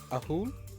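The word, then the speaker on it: ahool: wings and a tail it is called an ahul a-h-o-o-l a hoon okay that's how you pronounce it yeah a-h-o-o-l oh it's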